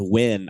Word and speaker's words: Nguyen: I think it's pronounced Win.